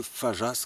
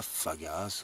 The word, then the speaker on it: Fageas: J'ai pu parler avec un chasseur qui m'a bien dit que c'est le col de Fajas qu'on dit, et pas Fagas ou Fageas, parce que ça s'écrit F-A-G-E-A-S.